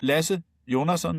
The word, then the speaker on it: Lasse Jonasson: I'm I'm used to people not being very crisp on this Danish pronunciation. Lasse Jönsson is the way I